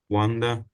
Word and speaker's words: wander: Wonder sound, you know, when you're saying them, they sound quite similar, I should say.